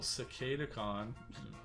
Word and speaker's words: Cicadacon: beast ward silverbolt and cicadacon that's that's how you say it people cicada khan um excuse me um